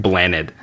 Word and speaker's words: Blaned: say it wrong because it's a Welsh word. It's like a Welsh language word, so it's not English. So people are gonna see it and pronounce it differently. But it means like planet in Welsh, which is funny because it's almost exactly the same. It's like Blaned.